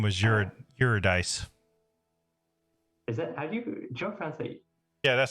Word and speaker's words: Eurydice: very brief contact with her her name was eurodice yeah that's how you pronounce it you're a dice and yeah that's how brief the content was